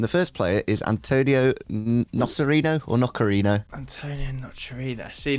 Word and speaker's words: Nocerino: in the dark at Torino. It's not Torino. Not Torino to Torino. Not quite. I'm going to write his name down. How do you spell it? Nocerino, Nocerio. I-N-O. Okay, so, Nocerino. Yeah.